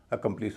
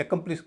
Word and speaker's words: accomplice: इसमें ICE से पहले क्या है, ओ है। ओ का उच्चारण भारी होगा, स्ट्रेस होगा, तो इसका उच्चारण तो कॉम होगा। लेकिन उससे पहले जो ए है वो हल्का हो जाएगा, तो उसका उच्चारण ए ना होके अ हो जाएगा। इसको बोला जाएगा अकॉम्प्लिस, अकॉम्प्लिस। वैसे इसका अकम्प्लिस भी उच्चारण चलता है, लेकिन एकम्प्लिस बिल्कुल नहीं होगा।